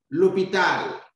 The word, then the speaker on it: l'hôpital: L'hôpital, the hospital. You can see we have a silent H that begins the word.